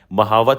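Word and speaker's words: mahout: बाय दियर महावत महावत मतलब यहां पे मे हट्स लिखा हुआ है महावत होता है इसका प्रोनाउंस जिसका मतलब क्या है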